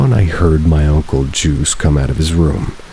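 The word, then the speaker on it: Juise: My great uncle Juice, spelled with a ju u i s e but pronounced like juice also lived there and he was really old about 80 probably.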